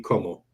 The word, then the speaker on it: comment: So the rule when you're reading French is if the last letter of a word is a consonant, you don't say you don't pronounce it unless the first letter of the next word is a vowel. So that word that looks like comment would be como.